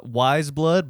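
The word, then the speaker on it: Weyes Blood: Wise Blood, but you spell it WEYES.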